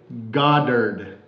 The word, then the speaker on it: Goddard: Jerry Goddard. Goddard. G-O-D-D-A-R-D.